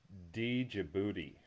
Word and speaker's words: Djibouti: What about Djibouti? The D is silent. The D is silent, so it's just Djibouti. Djibouti.